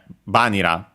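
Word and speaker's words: バニラ: Actually the accent is on the ba itself, so yeah, vanilla, as I was saying, so yeah, be careful.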